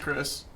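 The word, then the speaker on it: Crish: it's c r i s h chish chis pronounced Chris got you okay for sure um so yeah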